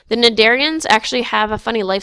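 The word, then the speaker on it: Cnidarians: so now we've moved on to jellyfish the nadarians so the sea is silent the nadarians actually have a funny life cycle they have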